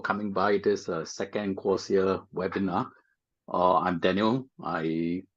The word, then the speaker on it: Quocia: to to start off right basically what is quasia okay quasia stands for quick social you put the two words together quick and social and you pronounce them very quickly you get quasia okay so that's what